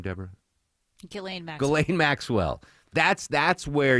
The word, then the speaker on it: Ghislaine: Ghislaine. All right. Thank you. You're going to be the official pronouncer of Ghislaine Maxwell.